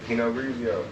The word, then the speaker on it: Pinot Grigio: Pinot Grigio? Yeah, nigga, Pinot Grigio.